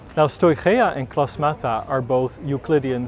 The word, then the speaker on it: Stoicheia: strahia and the photo with my high school greek i would say this is pronounced stoichaea yes i was wrong now stoichia and klosmata are both